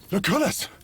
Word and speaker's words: Lucullus: I mispronounced it all, so... Lucullus! Lucullus.